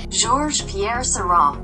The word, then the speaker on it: Georges Pierre Seurat: Te voy a dejar aquí cómo se pronuncia correctamente. Georges Pierre Seurat.